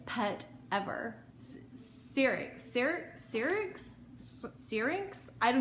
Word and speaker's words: syrinx: look up how to say it right now syrinx syrinx that's how you say it there's actually